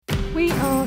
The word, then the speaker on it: Ae: Morning everyone, we are up bright and breezy in the sunshine and we are heading to A forest today. That's how it's pronounced. I think it's spelled A-E forest.